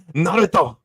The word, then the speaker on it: Naruto: Say it, Appion. Say it. Naruto. It's Naruto. Naruto. Don't say it like an American.